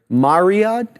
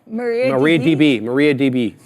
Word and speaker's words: MariaDB: Mariadab? How do you say that? MariaDab? MariaDB. Yeah. It's a cloud database company.